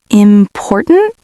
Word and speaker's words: important: For example, the word important. Where do you think the stress is? Um, important. No, wait. Important. The second one. Important. The stress is on the second syllable.